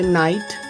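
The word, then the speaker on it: night: और अगर यही जी एच किसी शब्द के अंत में आए और उसके बाद टी लगा हो तो टी के पहले जी एच का उच्चारण नहीं होता, जैसे नाइट, लाइट, फाइट, माइट।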